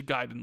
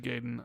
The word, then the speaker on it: Gaiden: Ninja Gaiden, Ninja Gayen. I I say it both ways. You probably say it wrong, but that's just how I say it, I guess.